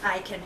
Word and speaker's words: Akin: Okay, this is another sample by, I'm assuming it's pronounced Aiken. It's A''K-I-N, and this was the Rose and Geranium Pure Facial Creamy Cleanser and Toner.